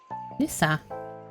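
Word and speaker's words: лиса: And the end result should be L, E, Sa, Lisa, which is actually the same as you would pronounce this word.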